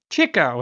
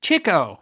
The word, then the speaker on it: Chico: Chico, and yes, it's Chico, because Leonard, his brother, writes, chased the chicks. Despite the eventual spelling, if you've called him Chico Marx, you were pronouncing it wrong.